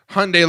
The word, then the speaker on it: Hyundai: And then the commercials where the car people are like, it's Hyundai like Sunday. Okay, here's the problem. That is the American equivalent of, if you watch a Japanese commercial, they pronounce it Hyundai.